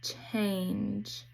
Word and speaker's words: change: Here we have a G with a silent E, so it says J, like in change.